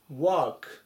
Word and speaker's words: work: では次行きます 106 番 work work 働くとか仕事という意味の単語になります発音注意ですねこのほにゃららの部分